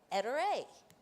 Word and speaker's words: Ettore: Eter.